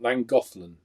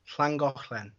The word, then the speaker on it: Llangollen: You pronounce it because I can't. Llangollen. Llangollen.